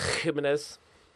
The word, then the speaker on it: Jimenez: And then we're going to go with Jimenez. You have to say it like that. A bit of phlegmy.